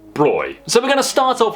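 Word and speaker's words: Bräu: this word is pronounced brow which kind of is except for in Bavaria as far as I know it's pronounced broy so we're gonna start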